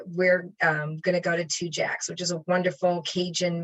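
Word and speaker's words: Tujague's: picked out and it's two jacks and uh it is spelled differently than it sounds it's t-u-j-a-g-e-s and it's but it's pronounced two jacks and it is the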